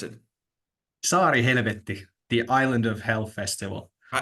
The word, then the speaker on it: Saarihelvetti: What's the right way to pronounce it? SaariHelvetti, the Island of Hell Festival.